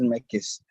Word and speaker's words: Mekes: I'm not sure how to say your name. I'm so sorry. There we go. Yes, please. My name is, okay, it's Mekes. The pronunciation is Mekes.